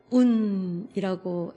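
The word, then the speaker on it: οὖν: 그러므로는 운이라고 헬라어로 발음이 되는데, 이 그러므로는 구약 전체에 대한 응답의 삶을 잇는 말입니다.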